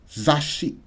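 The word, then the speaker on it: 雑誌: Two S's now. So what do you have to do? Zashi. Zashi. Zashi.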